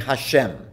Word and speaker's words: Hashem: reading the dot Bible then we pronounce it customarily by just saying Hashem which is Hebrew for the name we simply refer to God's name as Hashem the name now I